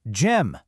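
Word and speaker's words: gym: And the answer is Jim with that soft J sound.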